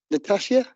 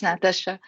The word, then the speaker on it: Natasha: I'm very sorry um is that Natasia Natasha sorry sorry I forgot the pronounce Nation wrong yes it's Natasha uh hi my name